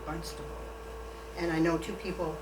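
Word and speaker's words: Barnstaple: Barnstable Devonshire England and you might think I'm mispronouncing it because it's spelled barn with a p but they actually say it almost with a B barnable and I know two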